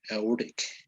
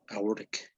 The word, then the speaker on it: aortic: Aortic. No. Auric. Yes, it's like we're not pronouncing the T, right? Uh, As if the T didn't exist. Aortic.